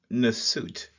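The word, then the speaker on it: nswt: symmetry off, and so the pronunciation is usually Nasut, where we have the ripple of water being the transliterated first, and then the suit plant, and then the loaf of bread.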